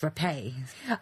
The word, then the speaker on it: Rappe: these beauties named junior up no no it's pronounced repay that annoyed me when I thought was rough